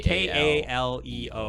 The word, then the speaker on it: Kaleo: leo okay oh oh is that how it's pronounced like is it not k-k-e-l no it's okay k-a-l-e-o oh yeah i love those guys i would